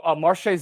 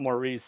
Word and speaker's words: Marche: the heisman marche rocket marches not maurice though no it's marche yeah so that but it's it's close marche and maurice are close they start with an m that's right and a soft c and an s we're going to h